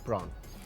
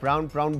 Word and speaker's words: prawn: Meet में again beef, fish, prawn, again प्रॉन, correct pronunciation is प्रॉन। वो प्राउन बोल के ना वो मुंह पे ही चढ़ गया।